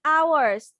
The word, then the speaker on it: hours: হ্যাঁ, আওয়ার্স, এটা হচ্ছে উচ্চারণ হচ্ছে আওয়ার্স, এইচ এর হ উচ্চারণ হবে না, হ উচ্চারণ হবে না, আওয়ার্স।